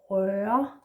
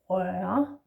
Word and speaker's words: røre: Next one is røre, and here we have the diphthong again. Røre, the diphthong just like we had in rørvi. Yeah, and the one that is in børn. Yeah, røre, which means to touch or to stir.